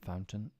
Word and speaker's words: fountain: right before we end words with a t that is could often not pronounced button Mountain certain curtain Fountain important we typically don't pronounce the T in these words instead we cut the